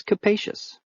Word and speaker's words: capacious: means roomy or spacious it even rhymes with spacious but not with copious which is our next